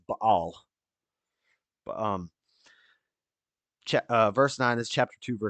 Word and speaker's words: Baal: things but they they give it up to baale it's actually pronounced Bal but um CH uh verse n this chapter